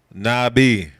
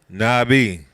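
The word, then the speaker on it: נביא: ones at least is Nabi that's noon bet yod ala if y'all know the olive is silent now get it Nabi so the alif a lot of times will be silent since at the end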